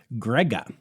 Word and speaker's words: Grga: mom Susie and father Grega. I think it's pronounced Grega. It's just spelled Grga, which, like, you know, who needs two vowels when you can get away with one?